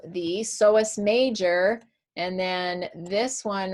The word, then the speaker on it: psoas: Okay, so the iliopsoas then is going to be made of this one right here, okay, which is called the psoas major, and then this one right here, which is called the iliacus.